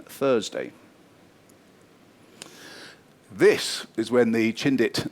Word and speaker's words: Chindit: The British troops given the name Chintthy in Burmese can even sound a bit Chindi but basically the British troops mispronounced it and it ended up as Chindit and the name Chindit eventually stuck.